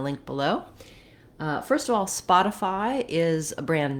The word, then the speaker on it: Spotify: of all the for the stressed syllable is a syllable spot and it's just like the word spot except that um we